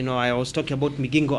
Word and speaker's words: Migingo: I was talking about Migingo Island, they were talking about Mijinjo Island, and I told them, oh, we are talking about two different islands. And they said, no, it's the same island, just different pronunciations in our culture.